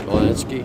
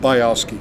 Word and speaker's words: Bialski: Mark, how do you say it? Balansky? Bialski. Bialski.